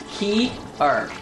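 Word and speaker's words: cearc: maybe no Fierce uh Iggy tells me it's pronounced key art but it doesn't work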